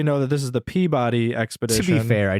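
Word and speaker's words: Pabodie: know why that's so it's pronounced Peabody because that is the original pre-1900 spelling of Peabody I don't care for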